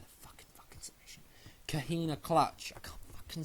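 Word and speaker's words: Coquina Clutch: Kahina clutch. I can't fucking say it properly. Kahina clutch.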